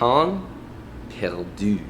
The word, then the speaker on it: pain perdu: I believe it's pronounced pain perdu, which sounds like pample moo.